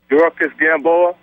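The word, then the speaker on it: Yuriorkis Gamboa: Dorcas Gamboa.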